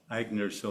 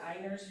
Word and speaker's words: Agner: And for those that don't know, would you spell out Agner so they? Yeah, phonetically it's off. It's Eigners, but it's pronounced Agners. And yes, many people pronounce it Einers or, but it is Agner.